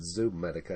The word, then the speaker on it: Zomedica: this is uh zamotaka i pronounce it zometica i've heard other people pronounce it zoom medica i don't know there's only one o but uh that's besides